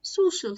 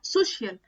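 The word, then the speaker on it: social: امثله بسيطه كده وشائعه كلمه سوشال النطق بتاعها سوشال سوشال ميديا سوشال نوركين بس بلاقي ناس بتقولها سوشيال على السوشيال ميديا هو تعود عليها كده كلمه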